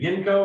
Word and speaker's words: Yinco: Is it Yinco or am I close? Close enough. It's like Kinko's but with a Y. So you said Yinko and that works. Yep.